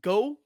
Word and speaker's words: Geux: Go. What? GX. How do you pronounce the word? Go. Go. Yeah, just go.